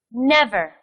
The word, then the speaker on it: never: Never. This word has the stress on the first syllable, too.